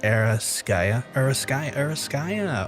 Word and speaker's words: Eraskaya: Most people say it wrong. You pronounce it like Eraskaya.